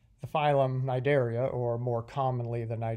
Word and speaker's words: Cnidaria: the ocean is called the C is silent because I want to talk about one of my favorite phyla the phylum Cnidaria and as you can hear the sea is silent the phylum Cnidaria or more commonly than